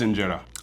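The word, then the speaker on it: injera: So, the I got to Google this to make sure I don't say the name wrong. Is it Inetta? Okay, it is Inetta. the enetta.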